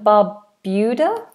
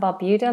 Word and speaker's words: Barbuda: Antigga and Barbuda. Antigga and Barbuda. Let me just double check the pronunciation of that second word. Barbuda. Barbuda. Antigga and Barbuda. It is right.